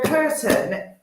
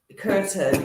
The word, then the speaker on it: Kirtan: So a curtain, Mr. Binks cat, is spelled Kirtan. So if you Google it, all right. Google curtain, you'll see some of the sort of dancing that goes on.